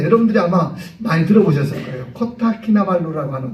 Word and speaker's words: 코타키나발루: 코타키나발루라고 하는 곳. 예. 코딱키나발루 발음 잘 안 돼갖고 어떤 분들은 코딱 발루 이렇게 얘기 코딱키나 발루가 그게 휴양지예요.